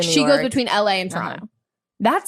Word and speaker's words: Toronto: And then also you hear how I'm pronouncing it, very Canadian. Toronto, not like Toronto.